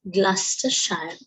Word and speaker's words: Gloucestershire: Wycliffe College in Gloucestershire, right? මේවායේ pronunciation එක ඒ රටේ හැටියට තමයි තියෙන්නේ. GLOU කියලා තිබ්බට GLOUCES කියලා තිබ්බට ඒක අපි කියවන්නේ Gloucestershire, right?